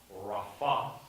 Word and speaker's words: Rapha: Jehovah Rapha, Rapha is really, the accent is on the second syllable.